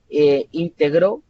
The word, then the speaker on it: integró: Y luego tenemos la sílaba tónica en medio para decir de íntegro, de integrar, perdón, y integró también como el pasado de integrar.